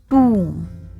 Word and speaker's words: tomb: Letter O has long oo sound, that is tomb, tomb, and letter B is silent. So it is tomb.